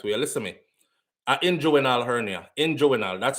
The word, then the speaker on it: inguinal: That was my inguinal surgery for my inguinal hernia. Somebody said yesterday, that's not how you pronounce it, SouFLo. And them I try to spell it for me the right way. Listen to me. Inguinal hernia.